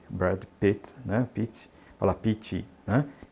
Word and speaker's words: Brad Pitt: não coloque a vogal não coloque esse I no final Então diga Brad Pit Brad Pit Brad Pit e note aí que em inglês os nomes geralmente eh o sobre nome que é pronúncia mais forte como a gente